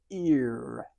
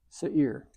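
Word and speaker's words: שעיר: Here's the sin, full note E into the ain, carrying an E sound into the yod, which gives it this ya added to this. It's a diphthong giving a longer E sound, and this is a rounded resh. So this is Seir.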